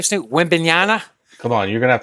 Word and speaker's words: Wembanyama: Wembanyama. Come on, you're gonna have to say it, my nun guy. All right. So he signed a huge deal this week. Say the name. Victor Wembanyama.